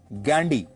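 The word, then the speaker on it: Gandhy: फिरोज गांधी के पिता का नाम था जहांगीर फरदून गैंडी। अंग्रेजी में वो गांधी नहीं गडी लिखते थे जिसकी स्पेलिंग है जी एच ए एन डी वाई गडी फिरोज गांधी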